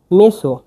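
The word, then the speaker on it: meso: গ ইন এনজি ইন এ আবার যে ইয়াগনেজে মেসো এমই এস ও মেসো এটা ভেঙ্গে দিয়ে এটা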